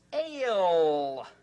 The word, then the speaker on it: ale: The silent E will change the A sound to A, and it's ale.